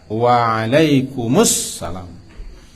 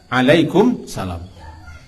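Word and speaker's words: وعليكم السلام: Tapi jawabannya yang benar adalah Waalaikumsalam. Bukan Alaikumsalam. Bukan Alaikumsalam.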